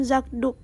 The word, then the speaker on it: zakdoek: bersuara ketika kedua kata itu digabung sehingga menjadi zakdoek saputangan diucapkan zakdoek bunyi kapada Zak berubah menjadi G velar bersuara karena dipengaruhi oleh bunyi deya mengikutinya dengan demikian dapat disimpulkan